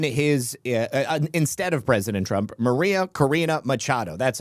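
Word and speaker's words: María Corina Machado: Maria Karina Machado, that's how you say it.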